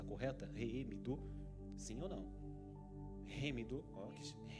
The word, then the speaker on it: Heemidu: E a Remidu, a pronúncia está correta? Remidu, sim ou não? Remidu, é isso aí, irmãos.